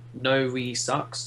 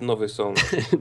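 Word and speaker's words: Nowy Sącz: Can you transfer Novi sucks to me? I don't know why you got it. Who sucks? Nowy Sąd. It's pronounced Nowy Sąd.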